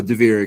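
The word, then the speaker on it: Devrick: Uh, Diver.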